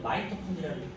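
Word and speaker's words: mitochondria: 보통은 그래서 미토콘드리아도 마이토컨드리아를 일자 이런 식으로 표기법이 바뀌어서 제가 지금 왔다 갔다 하는 거예요.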